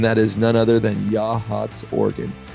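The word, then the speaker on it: Yachats: Oregon coast and that is none other than yah hats Oregon yah hats some people pronounce it yits but it is yah hats it is on the Central orgon Coast it's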